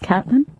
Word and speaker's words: Caitlyn: name herself cat catlyn it's actually pronounced Catlin call me catlyn now